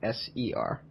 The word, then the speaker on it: Ser: It sounds the same as SIR, but it's actually SER.